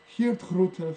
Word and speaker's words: Geert Groote: find him, it's because in Dutch, G's are pronounced like thick H's. So his first name, Geert, like the Dutch politician, the anti-immigration politician, Geert Wilders, same name as him. Anyway, so Geert Grote founded this group, and